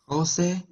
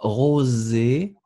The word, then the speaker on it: rosé: José, Roger, assis, agis. D'accord. Essayez de faire le zzz un tout petit peu plus léger. Encore une fois, rosé.